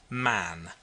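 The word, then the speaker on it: Mahon: He had a Roman nose, a snow white long beard, and his name was Mahan. but he insisted that it should be pronounced man.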